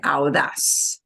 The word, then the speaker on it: audaz: But AU in Spanish becomes ow. And you do need to pronounce both of those vowels together. Yeah, ow, audaz, audaz. And audaz, we punch the as at the end.